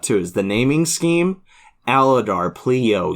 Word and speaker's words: Aladar: it's so perfect Aladar you have like three hard syllables that have to be hit I mean there's four syllable name but you have to hit lar alar like I guess it's not four syllables it's just three but like recovering flu